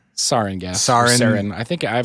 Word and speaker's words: sarin: In which they released, is it pronounced sarin? Sarin, yes.